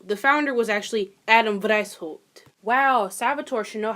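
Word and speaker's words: Weishaupt: right here I won't say his name Adam Wiener is that German wow it is German wow I should probably know that so the founder was actually Adam dice Holt Wow Salvatore should know how to pronounce a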